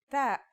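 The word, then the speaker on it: تاء: The pronunciation is like the English T, except you should release your breath with a strong burst of air.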